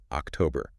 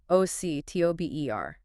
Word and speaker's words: October: October. It does, but a lot of learners struggle with where to put the emphasis, the stress.